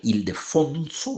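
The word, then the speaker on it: Ildefonso: fue eso de nuevo nombre grave ilde fonso verdad acento en la penúltima sílaba y Mora está es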